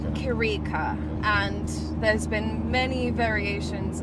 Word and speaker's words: Chirica: First and foremost, how do the viewers pronounce your name, right? They pronounce it Chirica. Chirica.